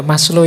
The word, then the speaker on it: Maslow: Jadi moralitas itu kalau di Maslow, Abraham Maslow, ini bukan Maslow membacanya. Maslow itu nama, jangan dibaca Mas itu ya Mas, Low itu rendah, jadi Mas yang kelas rendah. Enggak. Maslow itu lengkap.